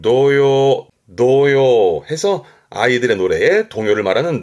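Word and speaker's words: 童謡: 발음은 노요 해서 아이들의 노래에 동요를 말하는 노요입니다.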